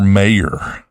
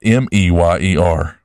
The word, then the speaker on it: Mayer: Did you know Oscar Mayer is spelled Oscar Mayer? It's Mayer, not Meyer.